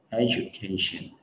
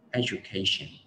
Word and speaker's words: education: Cái thứ nhất là thường là mọi người sai cái âm j thành âm d đó, mình đọc là edu, nó không chính xác, education. Và cái thứ hai là cái trọng âm của cái từ này, có một trọng âm chính rất là k và trọng phụ rất là e, cái chừa ở giữa đọc nhẹ thôi, education.